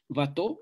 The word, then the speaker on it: Watteau: Aquellos que les guste la poesía, Watteau es con W, se escribe Guateau, que se llama Embarque a Citerea.